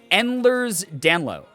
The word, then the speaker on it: Ehlers-Danlos: it's pronounced oh pronounced endlers dan lo okay endler's down low interesting uh so what wait why the s at the end is silent that's and wait the